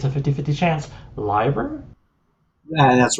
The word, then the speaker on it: Leiber: strung them together, usually like I hope I'm pronouncing this correctly. It's a 50-50 chance. Liber?